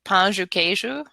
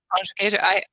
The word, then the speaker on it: pão de queijo: I think like, obviously I can understand it, but the pronunciation of certain letters is different. Like the D is a J, right? Yeah, Like pão de queijo. Pão de queijo.